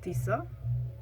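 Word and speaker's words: Tisza: burchu again the name of the river is tisa then a very important chieftain's name is kopang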